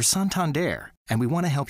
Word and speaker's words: Santander: get back to you it's okay to say Santander like your neighbourhood librarian your daughter's boyfriend whatever your friend who just got back from Paris it's pronounced sound Tom or the guy who runs that old timey riverboat cruise the bottom line is we're suntanned air and we want to